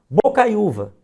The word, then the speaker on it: Bocaiúva: Bocaiúva. Bo, cai, u, vá.